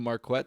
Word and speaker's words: Marquette: the booth and everything you're calling him Marquette for the first one so that's just how he pronounces it and like he was interviewed on the sidelines and they called him mark wet to his face and he didn't say anything so I figure that's right they were like coming